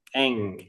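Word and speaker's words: 円: Nah itu r500.000 goseng Eng e n ya Yen itu tulisannya Yen kan Yen bahasa Jepangnya e Eng Tapi tulis bacanya Eng tulisannya e sama n aja Tapi bacanya Eng gitu seng Eng Oh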